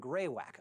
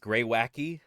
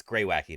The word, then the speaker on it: greywacke: of red sandstone and grey wack a darker type of sandstone the layers were and it's actually pronounced gray wacky um uh I'm